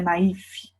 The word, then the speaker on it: naïf: Então, olha lá, como eu falei para vocês, ó, o naif ele tem um trema em cima do I, a gente pronuncia naif, tá? Naif, como um V, porque é uma palavra francesa, de onde surgiu, né?